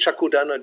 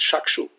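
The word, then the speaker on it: Chakshu: We think Chakudana Diloje. It's Shakshu.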